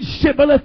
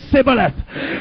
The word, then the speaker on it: Shibboleth: Did you notice tonight the difference of the pronunciation between Shibboleth and Sibboleth? It was just one consonant.